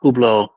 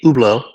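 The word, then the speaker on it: Hublot: I I would like to say that I I think that the the criticism of Ublo and it is pronounced ublau if it's French is that it's multiffactorial.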